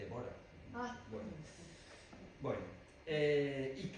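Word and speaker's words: Dvořák: que el otro día alguien me corrigió no se dice borsa se dice devora ah buen bueno eh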